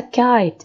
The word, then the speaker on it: kite: the II Ishmael a it's a magic e okay it's magic are you it's there but we don't pronounce it no Judy will I can handle food ah okay so cut this letter is alright and here we have the magic e kite so it's a long sound it's like I it's